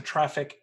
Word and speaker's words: Traefik: Could someone toss a link to traffic in the chat? Because I know that's spelled differently for people. It's TRAEFIK. But yeah. So I really like traffic, even though I don't use it in production.